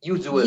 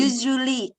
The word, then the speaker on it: usually: Coba lagi sekali lagi usually. Usually. Terlalu apa ya? Terlalu keras ya, terlalu agak ringan mungkin. Usually. Bacanya S agak nggak S persis, agak Z tapi U-nya kayaknya terlalu berat ya.